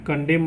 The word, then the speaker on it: condemn: AUTUMN है ना, यहाँ पे देखिए क्या साइलेंट रहा, ऑटम मतलब पतझड़। COLUMN कॉलम मतलब स्तंभ, CONDEMN कंडेम मतलब निंदा करना, HYMN हिम मतलब स्रोत, है ना।